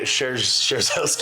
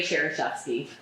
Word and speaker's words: Szereszewski: We have Szereszewski. Sure. Oh boy, she's gonna kill us for that. We'll clear that up in a minute. It's pronounced Szereszewski.